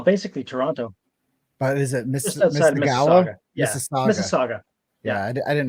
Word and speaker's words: Mississauga: But is it Mississauga?